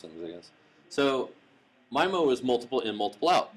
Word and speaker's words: MIMO: you say it you guys know the correct pronunciation mimo it's not memo it's michael this is my so in well it depends on how you pronounce things i guess so my mo is multiple in multiple out if i can